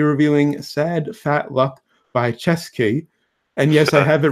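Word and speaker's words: Ceschi: Until next time, we'll be reviewing Sad Fat Luck by Chesky. And yes, I have it written phonetically in my notes, because it's spelled C-E-S-C-H-I.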